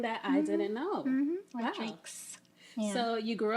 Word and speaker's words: Rodrigues: One, it's a lot of people say Rodrigues, but it's actually pronounced Rodrigues because it's Portuguese.